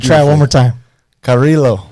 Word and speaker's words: Carrillo: Carrillo. Carrillo.